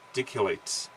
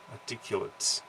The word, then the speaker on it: articulate: Articulate. Articulate. There's the articulate, which is adjective. A verb is articulate. I love these words, the different pronunciation for different type of word.